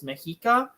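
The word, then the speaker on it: Mexica: people didn't call themselves azex they called themselves mahika and um the reason Scholars call them Aztec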